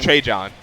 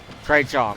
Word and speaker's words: Trejohn: I'm sorry, how you pronounce his name? Trejohn. Trejohn. Okay. Like 3 Johns. 3 Johns, okay.